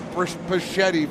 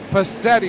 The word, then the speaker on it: Pacetti: the entire pacetti family i've been calling the brisbachetti for years they're here on joe arsenau's crew pacetti is how you say that but joe arsenault had